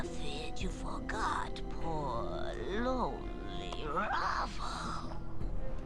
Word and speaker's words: Ravel: I feared you forgot poor, lonely Ravel. That's how you pronounce Ravel? I thought it was Ravel.